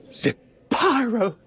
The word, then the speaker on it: Zapyro: Zapyro, 3 syllables of pure poetry.